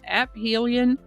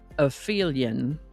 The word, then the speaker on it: aphelion: By the way, I am informed that aphelion can be pronounced aphelion or aphelion.